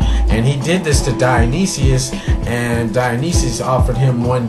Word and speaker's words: Dionysius: a court he was a courtier to dionysius pronounced dionysius who was a tyrant um in a courtier